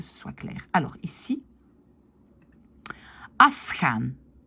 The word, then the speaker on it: afgaan: J'ai un F. C'est une consonne sourde, puisqu'elle n'a pas de vibration. Et normalement, a des vibrations. Mais comme il y a un F avant, je vais prononcer afgaan. Et le ici va devenir afgaan.